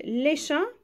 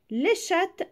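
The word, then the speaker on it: chat: القط بتيجي بمعنى دردشه بس نطقها بيختلف يعني انا لو قلت ليشا معناها القط لشات معناها الدردشه على النت ذكر طب هنا الحصان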